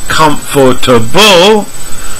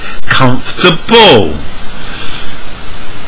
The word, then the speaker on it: comfortable: vegetable with number three learners usually say comfortable but native speakers reduce it from four to three and K and say comfortable and number four learner